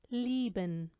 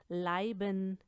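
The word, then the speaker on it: lieben: आप नोट करें कि इनको अगर आप इनकी तरह प्रोनाउंस करेंगे जैसे कि डाइब, स्पाइलसॉइग, लाइबन या लाइगन तो ये गलत होगा।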